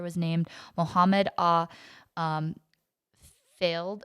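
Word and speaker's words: Fayed: named muhammad ah um failed or fired fired okay we looked up that pronunciation he's an egyptian it's an egyptian yeah so yeah they're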